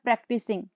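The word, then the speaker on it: practicing: यहाँ पर मैंने लिखा है प्रैक्टिसिंग। अब हम क्या करते हैं, इसको प्रैक्टिस बोल के निकल जाते हैं तो वो भी आपकी रॉन्ग प्रोनाउंसिएशन होगी, जिससे आपका कंटेंट का स्कोर जाएगा।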